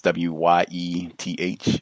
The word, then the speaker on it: Wyeth: At this company, Wyeth, I guess, W-Y-E-T-H. Is that how you say it? Wyeth. Yeah. Okay. Yes, that's how it's pronounced.